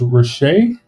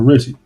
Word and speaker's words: Riche: Angel said it's pronounced Riche. Yeah, that's probably Riche. Yeah, I kept calling her Richie. It's like, my name's not, it's not Richie.